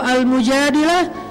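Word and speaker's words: المجادلة: Kalau Al-Mujadilah, perempuan yang curhat. Kalau Al-Mujadalah, curhat. Jadi tergantung kita bacanya dilah atau dalah. Kalau kita baca Mujadilah, berarti perempuan yang lagi curhat. Kalau kita baca Al-Mujadalah, berarti curhat itu sendiri.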